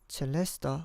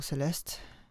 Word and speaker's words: Celesta: I'm going to start with the Celesta or Celeste, depending on how you want to pronounce the name of the instrument.